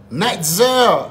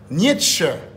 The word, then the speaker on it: Nietzsche: Nightzer, monsieur, pardon non monsieur. Night. Est-ce que j'ai bien prononcé? Nietzsche.